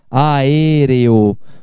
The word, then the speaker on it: aéreo: a ar eo aéreo aéreo quando você fala aéreo se pronuncia uma duas três quatro sílabas aéreo o teatro de teatro